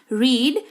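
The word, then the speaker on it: read: पढ़ाना, रीड, रेड, रेड। Spelling देखिए same है पर उच्चारण अलग हो जाता है, ठीक है।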